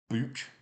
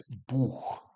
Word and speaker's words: Buch: So in English, you might say book with like a sort of hard K, but that's wrong. You're going to need to teach yourself how to say this. It's buch, buch.